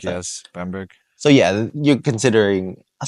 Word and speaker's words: Bamberg: How do you pronounce that? Yes, Bamberg.